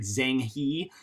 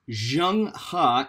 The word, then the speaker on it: Zheng He: name is zhang ha i know that looks like zhang hee that is pronounced zhang ha and he was the